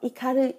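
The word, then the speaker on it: 怒り: cái gì đó nộ nộ này sẽ có cách đọc là đô với oomi k nhom Mi đọc là oki hoặc ikari nộ này có cách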